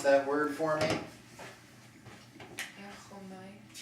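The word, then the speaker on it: ἔρχομαι: Erchomai. Yep, just make that omicron a short O sound. Erchamai.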